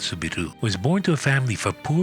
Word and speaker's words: Soubirous: In 1844, Marie-Bernarde Soubirous (pronounced “soo-bee-roo”) was born to the family of a poor miller in the small town of Lourdes in France.